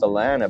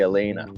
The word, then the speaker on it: Elena: Because we talk to a lot of people, and with your name, I wanted to call you Alana because it looks like it's pronounced Alana, but it's actually Elena.